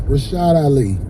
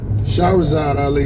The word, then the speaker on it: Shahrazad Ali: Her name is Miss Rashad Ali. I'm saying the name wrong. Shahrazad Ali.